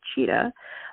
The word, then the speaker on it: Tschida: And the way you pronounce her last name is Tschida, but you spell it Tschida.